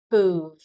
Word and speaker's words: peuvent: Je peux, tu peux, il, elle peut, nous pouvons, vous pouvez, ils, elles peuvent. Peuvent. So the V is pronounced. Ils, elles peuvent. Don't worry, this is silent.